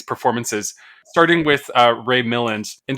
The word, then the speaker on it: Milland: starting with uh Ray Milland and did you say Ray Milland Miland Miland Miland yeah doesn't sound right any way you say it okay but that's how you say it mil yeah um